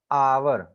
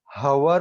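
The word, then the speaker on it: hour: देखिए एन आवर है, भले ही वो एच से शुरू होता है लेकिन एच तो साइलेंट है. हम जब एच ओ यू आर का प्रोनाउंसिएशन करते हैं तो हम हवर नहीं बोलते हैं, हम हावर नहीं बोलते हैं, हम बोलते हैं आवर.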